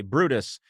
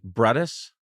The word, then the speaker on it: Brutus: right in the back Brutus well that's in fact how his name is pronounced in both classical Latin and the ecclesiastical pronunciation hey Caesar just got stabbed by Brutus I'm sorry brus what would you say